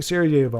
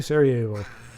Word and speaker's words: Sarajevo: Baldric says, when we're mentioning Sarajevo, I would like to recommend a documentary movie about it. Scream for Me, Sarajevo.